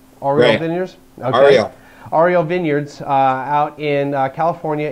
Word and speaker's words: Aurielle: got Frank Stearns here from Aurielle, did I pronounce it right? Aurielle Vineyards? Okay. Aurielle.